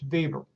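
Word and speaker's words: Weber: Notice that his name is spelled web uh but W in German is pronounced as a V. So it's Bieber.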